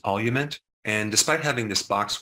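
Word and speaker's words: Olumiant: alopecia areata is called I think it's pronounced olument and despite having this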